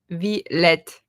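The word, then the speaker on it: Villette: Vlet.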